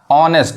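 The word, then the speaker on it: honest: ऑनेस्ट, इसको हॉनेस्ट नहीं पढ़ते हैं, नहीं तो गलत पढ़ाएगा।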